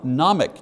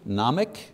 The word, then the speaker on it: Gnomic: Number one, nomic, don't pronounce the G, nomic, meaning knowledge.